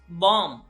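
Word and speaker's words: bomb: So this is बॉम्ब. ज्यादातर लोग बोलते हैं बॉम्ब. बॉम्ब, ब नहीं है, बॉम्ब नहीं करना है, इसको बोलना है बॉम्ब.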